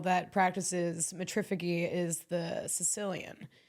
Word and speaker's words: Caecilian: Another animal that practices metrificy is the Sicilian. The Sicilians are really, really interesting. It's spelled Caecilian.